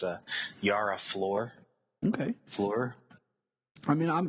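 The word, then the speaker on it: Yara Flor: though I mispronounced her name it was I mispronounced her name last time we spoke about it but it's a Yara floor okay floor I mean I'm interested in reading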